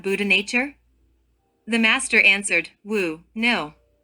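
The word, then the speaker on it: 無: The master answered, "Wu, no." This single word wu, besides being a mantra that is pronounced as a W like imitating the sound of a hurricane, is also a koan itself.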